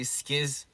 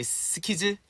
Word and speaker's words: SKZ: Sometimes I say skiz, because you know in Korean we say skiz like a lot, so